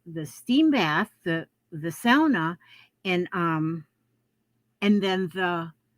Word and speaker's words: sauna: had a um sauna now you may hear people call them a sauna that's the wrong pronunciation they're a sound sound like like a sow like pig sound in any way which